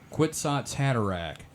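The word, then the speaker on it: Kwisatz Haderach: anyone out there uh if you cannot seem to pronounce quits hatak it's phonetically similar to nutsack cataract I kind of want you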